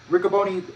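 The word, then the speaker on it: Riccaboni: honor roh's ren and uh ricoboni that's how you pronounce it hosted another facebook live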